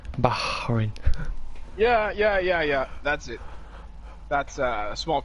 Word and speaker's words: Bahrain: throat, so you're like Bahrain. No, it's not like KH, it's not it's Bahrain. No. Not a you don't have to say it's Bahrain.